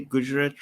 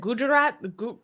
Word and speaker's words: Gujarat: I think I said Gujarat. Gujarat. No, not Jew. Not Jew. It's not Jew. It's Gu.